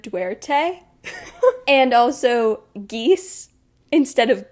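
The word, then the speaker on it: Duarte: main character's last name I was saying Dart instead of dwte and also geese instead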